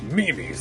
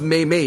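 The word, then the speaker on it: memes: Is that one of those mimis the kids talk about? Oh gosh. I believe they're pronounced Maym May, your honor.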